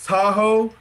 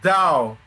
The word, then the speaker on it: Tahoe: to articulate this like people hear the name Lake Tahoe and don't realize that's mispronounced Dow. Because white people back in the day couldn't be fucking bothered enough to pronounce Dow.